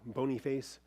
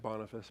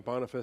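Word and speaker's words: Boniface: downhill after that we get to bony face it's pronounced bonfice but I like saying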